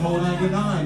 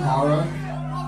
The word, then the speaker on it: ho99o9: So when they see this logo, they're like, well, how do you pronounce it? Is it ho99? Is it Hogog? Is it da da da da da da da da da? It's fucking horror.